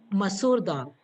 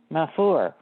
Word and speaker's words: masoor dal: Masoor dal. Okay, I'll spell it for you if you just give me 1 second.